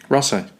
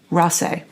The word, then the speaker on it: Raasay: How do you, I was so worried about mispronouncing. Raasay. Raasay.